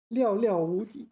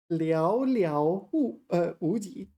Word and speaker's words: 寥寥无几: 料料无敌. Is that right? Sorry. It's a 成语. Hold on one second. No, I got the pronunciation wrong. 寥寥无敌. 寥寥无敌.